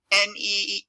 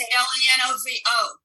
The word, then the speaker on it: Lenovo: How do you spell it? Lenova, and then the word yoga. It's Lenovo.